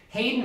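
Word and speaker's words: Haydn: his own right a guy named hayden wood hayden is spelled like the composer joseph hayden h-a-y-d-n wood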